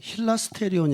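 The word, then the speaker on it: ἱλαστήριον: 소라고 한 단어가 굉장히 헬라어로 성경에 기록돼 쓰니까 발음하는 힐 아스테리온 이라고 하는 게 바른 발음을 합니다 그런데 이 힐 에스테르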